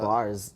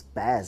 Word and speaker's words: Bas: Not Bars. It's Baz actually. We just. I don't know how you pronounce it.